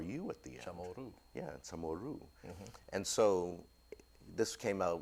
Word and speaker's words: CHamoru: Generations are going to think we're Chamorro and not chamoru chamoru and so um but